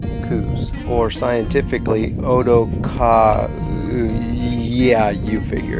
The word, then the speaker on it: Coues: while stationed in arizona so for a true pronunciation i guess you'd have to ask mr coos himself but we're about a century and a half too late for that so for argument's sake we will use the most commonly accepted pronunciation coups or scientifically yeah you